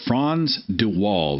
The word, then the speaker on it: Frans de Waal: I want to say it's Frans de Waal. It's F as in Frank, Fransde WAAL.